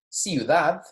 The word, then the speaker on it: ciudad: Okay, this word means city in English, ciudad, okay? So as you hear me pronounce this, go ahead and write your own pronunciation guide real quick.